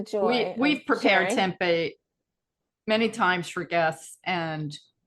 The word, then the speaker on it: tempeh: But other than that, everybody loves tempeh. Mhm. They don't always remember how to say it. Some say tempeh or Oh, I hear whatever. everything. I hear tempura, Oh, tempeh, tempura.